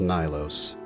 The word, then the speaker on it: Nilos: Also, not to be this guy, but it is pronounced Nilos.